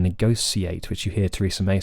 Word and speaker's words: negotiate: agree that it should be sh right it should be a sh it's negotiate not negotiate so there's your answer technically we shouldn't say any of these words in fact with an S we should say negotiate rather than negotiate which you hear terresa